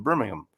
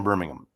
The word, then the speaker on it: Birmingham: And I've learned you got to say it like Birmingham. You don't say Birmingham. You got to say it with without the H, you know, Birmingham.